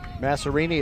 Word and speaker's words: Masarini: it's nick masarini and they like to pronounce his name like he owns an italian restaurant or something massarini at 2 45.